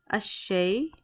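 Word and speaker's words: الشيء: So you see this ra over here and ash-sheen over here. These are huruf ash-shamsiyah. These are the sun letters. So that's why we're not pronouncing this alif lam over here.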